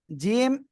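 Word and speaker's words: ج: ওকে, তাহলে আমরা এরপরে যে অক্ষরটা শিখব, জিম, জিব্বার মাঝখান তার বরাবর উপরে তালুর সঙ্গে লাগিয়ে উচ্চারণ হবে শক্ত আওয়াজে, তাই না? 3 আলিফ টান হবে জিম অক্ষরে, মনে রাখবেন এটা কিন্তু।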